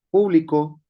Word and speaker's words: público: Por ejemplo, público con acento en la U. es público. Eh, a diferencia de publicó con acento en la o es un pequeño trazo